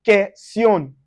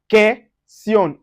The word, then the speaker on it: question: That's U is not pronounced when it's followed by, when it's after Q. So we say question, question.